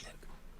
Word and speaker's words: Moog: Yeah, it's Mog. I suppose my name's supposed to be pronounced Spoon.